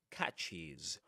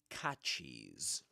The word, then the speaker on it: catches: And that yes is always pronounced as is. So you say catches, washes, fixes, and I don't know something like um dishes, right? Dishes. Sh at the end is dishes, catches.